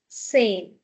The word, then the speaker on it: zehn: zehn zehn After set, we have a vowel, so z sound. zehn Okay. Here, I would like to introduce one more pronunciation rule, which is if there is a vowel before H, which is ha, yeah? Then we will not give a lot of stress on this ha.